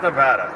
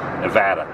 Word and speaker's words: Nevada: Welcome to Fabulous Las Vegas, Nevada. Do you say Nevada or Nevada? It's Nevada. Nevada. Okay. It's not Nevada. That's a California thing. Nevada.